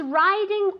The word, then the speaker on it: riding: Entonces, riding se escribe con una I, pero se dice como si fuera A-I. Riding.